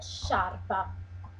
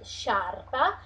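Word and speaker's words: sciarpa: little bit diff difficult to say she sharpa so if you have just some problems try to to say before she and then to to link also the second part of the word and and then so to link everything together sharp every time that you see this kind of three letters together is always the same pronunciation that is so s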